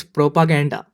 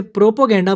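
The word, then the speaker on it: propaganda: Sixth word is प्रोपागेंडा। बहुत बार लोग इसे प्रोपोगेंडा बोलते हैं और उसके अंदर वो लिखाते हैं PROPO, लेकिन सही स्पेलिंग में आता है PROPA फिर GANDA, प्रोपागेंडा। Seventh word is Caribbean.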